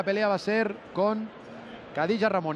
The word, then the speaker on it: Khadija: estirón de oreja, porque no se llama Khadija como pronunciamos, a pesar de que su nombre empiece por K, sino se pronuncia con J, Khadija Ramuni.